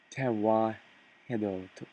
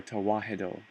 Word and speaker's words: Tewahedo: I want to pronounce it right. It's Tewahedo, or Tewahedo.